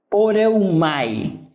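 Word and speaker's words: πορεύομαι: esta palabra esta conjugación proviene de otro verbo griego que se llama, o que se pronuncia poreumai, y que significa ir, marchar, viajar.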